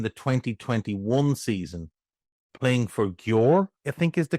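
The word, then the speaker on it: Győr: playing for Gore, I think is the correct pronunciation, um, in the second division in Hungary.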